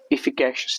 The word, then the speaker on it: efficacious: इफिकैशियस की स्पेलिंग मैं आपको बता दूं पहले ही, इसकी स्पेलिंग है EFFICACIOUS, इफिकैशियस, ठीक है।